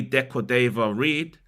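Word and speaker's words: De Cordova-Reid: and enabled 31-year-old Jamaica international, here goes, Bobby Decordova-Reid to open the scoring for the Cottagers. I finally got his name right. I butchered it last week, if you remember.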